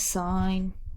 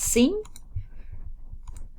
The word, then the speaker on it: sine: equals so trig inverse sine now please note I'm saying sine not seen okay that is number one you have to please be pronouncing it correctly X sine not seen so theta is forty